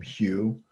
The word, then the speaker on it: HU: For me, I use a Sanskrit sound that's written H-U, and it's pronounced like the name Hugh.